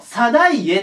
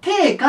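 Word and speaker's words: 定家: 2 パターンあってこの人藤原のサエって読む時と藤原の低下って読むま両方あります自分低下で読ん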